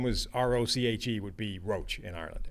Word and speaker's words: Roche: If it's Quincy, the edge rusher, he's Roche. Yeah.